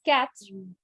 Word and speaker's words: quatre: It's quatre. Literally, it is quatre.